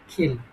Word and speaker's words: kill: আছে আই কিল ইউ এটা আমরা কিল করতাম তাই না এটার সঠিক উচ্চারণ হবে খেল কি উচ্চারণ হবে খেল পি টে কে পি